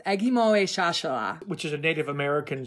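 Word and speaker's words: Ekgmowechashala: but I have been taught that it is pronounced Agimoe Shashala.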